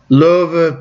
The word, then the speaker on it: Löwe: Löwe, pretty good. That's German. That's how you pronounce lion.